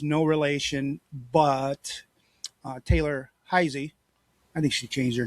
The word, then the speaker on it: Heise: They pronounce it Heisy.